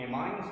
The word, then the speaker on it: amines: तो ये पासवेट चार्ज है, तो ये क्वार्टनरी एमीन्स भी होते हैं। और प्रोनाउंसिएशन चेंज कर लीजिएगा, आप लोग एमाइंस बोलते हो, मैंने एमीन्स बोला है।